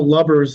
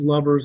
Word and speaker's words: Lubbers: And even though Lubbers is pronounced Lubbers on the west side of the state, for Darren, it's Dr. Lubbers.